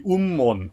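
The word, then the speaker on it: 雲門: Anyway, today I want to talk about a famous koan that involves a Zen master whose name, Japanese pronunciation would be Ummon.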